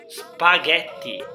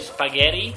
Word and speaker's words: spaghetti: Well, the right pronunciation for this pasta is spaghetti. Oftentimes people call it spaghetti, and that's an American way of saying it, but it's not correct.